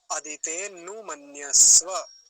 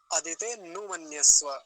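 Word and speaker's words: अदितेऽनुमन्यस्व: उच्चारण सीख रहे हैं, और उच्चारण वैसे ही किया जाता है जैसा लिखा होता है। तो क्या बोलेंगे, अदिते नुमन्यस्व, अदिते नुमन्यस्व, अनु नहीं बोलेंगे, अदिते नुमन्यस्व ऐसा बोलेंगे।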